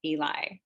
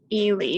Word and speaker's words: Ely: think i called and i pronounced it eli and i was quickly quickly corrected but i do have to say my um my south jersey pronunciations come out and put frequently pretty wrong in my pronunciation so i was very glad that they let me know yes elie but you're not alone